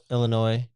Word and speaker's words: Illinois: And we got Illinois.